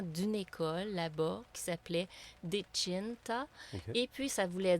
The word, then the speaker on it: Dechinta: C'est Dechinta. Vois-tu, je l'avais mal prononcé. Il faut dire chin. Chin. Moi, je Oui, dis Dechin. Dechinta. Non, c'est Dechinta.